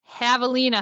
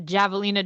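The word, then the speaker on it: Javelina: All right, so he just did the Havalina hundred, which I always just want to call the Javealina Jund just because that's how they spell it.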